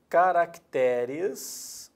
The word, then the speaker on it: caracteres: o plural de caráter na língua portuguesa é caracteres o plural de caráter é caracteres a sílaba tônica tá no Terra não há mais